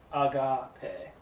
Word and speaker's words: agape: So agape. So long A. Yes, long A. Man, I need to get new markers. Put that word back up. Agape.